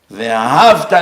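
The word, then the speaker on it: ואהבת: Ve'ahavta l'reacha kamocha means you used to love your friend like you love yourself, but you're not anymore. It changed the meaning of the word. You have to say ve'ahavta.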